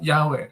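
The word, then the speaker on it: Yahweh: tadi yang pronounciation di pronounciationnya yhwh itu di pronounciationnya yahwe Tadi kan dibilangkanilfalkannya diucapkannya yahwe Oh ya betul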